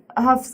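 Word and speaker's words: Hough: Derek Huff's character...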